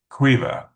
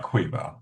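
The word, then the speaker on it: Caoimhe: Like the combination of M and H is pronounced as a V. And same thing with like B and H. And one of the characters is named qua which is spelled [clears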